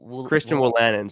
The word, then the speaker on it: Christian Wolanin: Christian Wolanin.